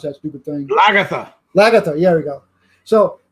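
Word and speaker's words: Lagertha: How do you pronounce that stupid thing? Lagatha.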